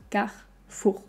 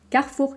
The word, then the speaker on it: Carrefour: vais faire mes courses à carrefour c'est faux car four carrefour carrefour car essayer à l'envers si c'est trop